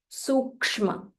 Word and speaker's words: Sukshma: Sukshma, Sukshma. So the second letter, you'll have to join ik and ish together. Sukshma.